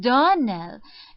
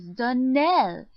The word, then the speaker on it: Donnell: she pronounced our name Donell now Miss Shirley the correct pronunciation of our name is Donell Accent on the last syllable I hope you'll remember